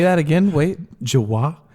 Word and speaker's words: Jawa: but you also see the Jawa on their giant You like say it weird. semi truck. Say that again. Wait. Jawa? They're that's Jawas. That's incorrect. It's Jawa. Jawa. Jawaniqua? No, it's just Jawa.